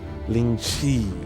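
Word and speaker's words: Lingqi: Ling Chi. That's how you pronounce it.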